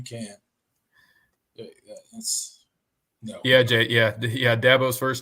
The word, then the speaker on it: Dabo: when he would try to pronounce Dat Boy in reference to Dabo, it would come out like Dabo, and that's where the nickname stuck. So he's just Dabo now. It's Dabo.